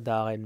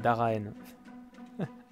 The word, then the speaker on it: Daraen: J'ai tendance à prononcer ça Daren, mais c'est Daraen.